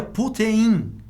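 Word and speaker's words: πύθειν: O vocábulo grego apodrecer, ele se pronuncia putein, tá?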